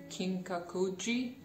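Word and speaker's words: Kinkaku-ji: golden temple i believe kinkakuji i think that's how it is pronounced in japanese his book really great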